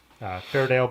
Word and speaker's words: Fairdale: Otis yep there he said it right now Fairdale bikes use 90s mountain bikes those are the